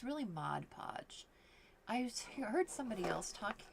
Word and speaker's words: Mod Podge: like oh my gosh I say it wrong Modge Podge sounds better to me than Mod Podge but anyways so it